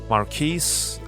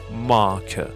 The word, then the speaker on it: Marquis: Charles Dickens is the cousin to Marquis, or in another pronunciation, Mark.